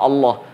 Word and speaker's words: الله: penyebutannya seperti itu karena penyebutan yang benar itu adalah Allah hanya pada kasrah saja